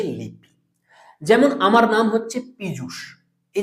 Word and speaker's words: পীযূষ: কিন্তু এই যে PIJUSH লিখেছি, এটাও পীযূষ, উচ্চারণ হচ্ছে পীযূষ, এটা বাংলা শব্দ।